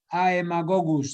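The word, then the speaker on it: Haemagogus: Fíjense que se escribe con H y AE. Haemococcus se escribe, pero se pronuncia Haemococcus.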